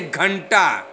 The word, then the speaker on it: घंटा: जैसे मान लीजिए घंटा, तो घ के ऊपर बिंदु है, अब यहाँ पे पांचवा वर्ण हो जाएगा अड़ छुपा हुआ है।